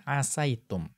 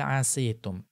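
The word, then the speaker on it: عسيتم: Nah, kita melihat tidak dibaca asitum, tetapi dibaca asaitum. Kemudian kita melihat faqad qara'a Nafi'unil Madaniyyu bikasris sini. Ya, ada salah seorang dari qurra, salah seorang dari imam qiraah, itu membacanya dengan mengkasrohkan sin. Siapa beliau? Yaitu Imam Nafi' al-Madani rahimahullahu ta'ala. Beliau membacanya dengan mengkasrohkan sin. Berarti hal asitum.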